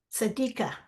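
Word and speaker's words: Sediqa: you thank you do I pronounce your name sadika s e d i q a oh no s sad oh s how do you pronounce it sadik sadika it okay yes yes would anybody else like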